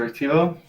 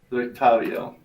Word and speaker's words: Rictavio: What's the Rictivo? Rick Tivo? Is that what I said? Rictavio? Rick Devo. Rictavio. That's technically correct, but whatever.